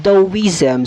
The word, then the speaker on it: Taoism: proceed with our discussion in the concept of dawizam so bang the wisdom in the first place